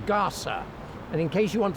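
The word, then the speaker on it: Gasa: up on the Internet it's spelled g-a-s-a if you look up Gaza with a zed you'll end up in the Middle East which is not where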